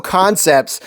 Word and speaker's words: Kansept: I have two brand new concepts. Yes, it's spelled Kansept, but it's pronounced Concept.